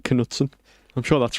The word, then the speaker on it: Knutsen: Kjetil Knutsen.